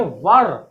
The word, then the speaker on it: were: इसको वेयर नहीं पढ़ के हम लोग क्या पढ़ेंगे, वर, बिल्कुल वर्ड पढ़ेंगे।